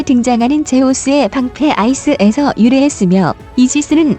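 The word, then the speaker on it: Aegis: 제우스의 방패 아이스에서 유래했으며 이지스는 아시스의 영어식 발음이라고 합니다 한 명 모든 것을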